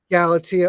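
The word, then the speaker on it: Galatea: Our resident historian Chucky Brown asks, how long did it take to write the 21-minute song Galatia? Am I pronouncing that right? Galatia.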